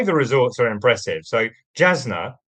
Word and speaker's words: Jasna: So Jasna or Yasna possibly is the correct pronunciation and I think a lot of people will have heard of that.